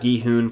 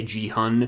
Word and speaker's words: Gi-hun: I used to say ji-hun, which feels more natural to me, but I'm trying to say his name correctly.